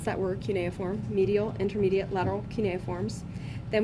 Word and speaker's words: cuneiform: And then continuing towards the big toe, we have our medial, intermediate, and lateral cuneiform. Okay, so that's how you pronounce that word, cuneiform.